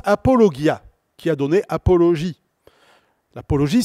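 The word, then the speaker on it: ἀπολογία: mot grec que vous allez reconnaître qui se prononce apologia qui a donné apologie l'apologie c'est la défense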